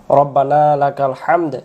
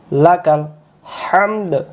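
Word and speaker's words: حمد: পর্যন্ত শুদ্ধ হবে না এরপরে আরেকটি দেওয়া আছে হামদ এখানে আমি ভুলটা ধরায় দেই আমরা বলি রাব্বানা উচ্চারণ করব রব্বানা এক আলিফ লাকাল লাকাল হামদ হামদ হামদ বাংলাতে বলি হয় আকার হা ম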